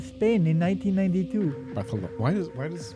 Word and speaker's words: Barcelona: Barcelona. Why does everybody say it like that? Because in Spain, they say Barcelona? Yeah. Really? Yeah, for S's, they have the... Like a TH kind of.